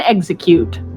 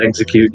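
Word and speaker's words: Exeggcute: It's called an execute. This is an execute.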